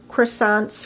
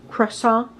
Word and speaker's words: croissant: Plus, you get free croissants for life. I'm from Wisconsin. We pronounce the T. How about you? Croissant?